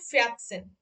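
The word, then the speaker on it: vierzehn: আচ্ছা, তাহলে দেখেন, এখানেও দেখেন আপু, এখানে খেয়াল করবেন, এখানে কিন্তু দেখেন আগের পরে সেন আছে বলে এটার উচ্চারণ হচ্ছে ফিয়াত সেন, ফিয়াত সেন।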